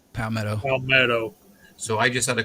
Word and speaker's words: Palmetto: Is it Palomito website? Palmetto.